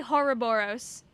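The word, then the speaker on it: Horrorboros: How do you pronounce Horoboros? I say Horoboros, personally.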